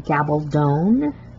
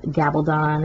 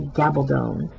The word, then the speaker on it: Gabaldon: And yes, you do pronounce her last name Gabaldon, like rhymes with stone. It's not Gabaldon, it's not Gabaldon, it's Diana Gabaldon. Gabaldon rhymes with stone.